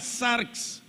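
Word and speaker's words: σάρξ: y la palabra carne no se dice ni Numa ni que ni soma se dice arx diga zarx Y entonces qué es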